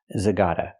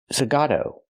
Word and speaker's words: Zagato: fun zag what ni it's not pronounced Aston Martin zagata it's pronounced Aston Martin zagato let's talk about Aston